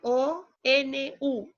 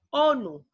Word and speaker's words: ONU: O, N, U, ONU. Se puede pronunciar como una palabra.